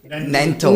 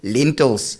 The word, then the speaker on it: Nantel: Nantel, we have some friends that actually must say his name, I would say, because there's someone that even doesn't say Nantel. She says lentils. Because she can't get to the name like Nantel.